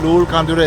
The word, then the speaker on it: Loolcondera: at lul kandura estate although it spelled like Lula actually is called lul kandura estate and now we are